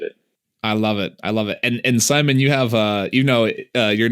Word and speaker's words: Szymon: And Szymon, you have, your name is pronounced Szymon, just like kind of the normal American name.